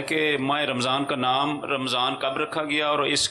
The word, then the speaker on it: رمضان: اصل تلفظ اس کا رمضان، قرآن کریم میں رمضان میم پر زبر ہے، رمضان ہم لوگ بولتے ہیں میں سے، تو صحیح تلفظ بولیں قرآنی تو مدینہ مدینہ۔